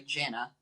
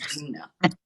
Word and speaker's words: Gina: I always say, well, I learned that her name is not actually Jenna. After all this time, it's Gina.